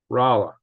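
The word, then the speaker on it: Rolla: 2 in an hour Rola is said with a short o oh Raa R okay rala pardon me had I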